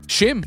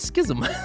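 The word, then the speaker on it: Schim: That's how you pronounce it. Huh? I read that. I would have read it. I mean, if you're ever taking Greg Miller's advice on how to pronunciate something, well, no, but then I got to be honest. I would read it as schism.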